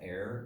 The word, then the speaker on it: err: and unlike Michael Kramer I believe that this word is pronounced error not ER I just listened to a Michael Kramer book today and he said ER ICA and they're I think they're both correct okay okay we're opening